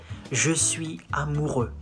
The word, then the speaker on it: je suis amoureux: You say, je suis amoureux. And then you do the liaison. Je suis amoureux.